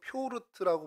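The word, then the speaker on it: Пётр: 이렇게 그 격투기 선수 중에 최상이었던 사람인데 그 효도르 혹은 표르트라고 부르는 것이 이 베드로의 러시아식 발음입니다.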